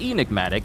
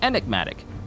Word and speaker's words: enigmatic: wrong this whole time it's not enigmatic it's enigmatic I've been saying that